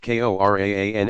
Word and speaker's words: Quran: His sole miracle was the Quran, pronounced Koran and hereafter transliterated as Quran, the Muslim sacred scripture.